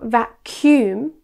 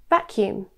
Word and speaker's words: vacuum: Many students incorrectly place the stress on the second syllable. Instead of vacuum, it should be vacuum.